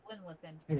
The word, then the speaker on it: Glanleathann: Glanleathann. Did I say it right, Cavalier? Glanleathann. Yep. It's called Glanleathann.